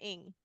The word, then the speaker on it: Ing: Hello, Ing. Like ring without the R and the I.